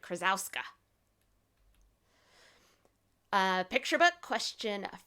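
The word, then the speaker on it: Krosoczka: Hey Kiddo by Jarrett Krasaska. He has a little video on how to say his name, and I had to think of it, but Jarrett Krasowska.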